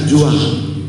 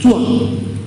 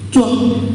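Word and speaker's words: 装: Jangan dibaca juang, walaupun hurufnya Z, karena ini huruf pinyin, harus bacanya C. Jadi cuang, cuang sa, cuang ya, cuang lo.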